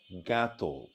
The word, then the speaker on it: জ্ঞাত: শব্দের আদিতে জ, ইয় এবং জফলাযুক্ত ব্যঞ্জন বর্ণের সঙ্গে যদি আকার সংযুক্ত হয় তাহলে সেই আকারের উচ্চারণ প্রায়শ একারের মতো হয়।